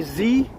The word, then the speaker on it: Z: say that I say Z some reason instead of said even though Zed is the proper way to say that in Canada using the British pronunciation so I guess I've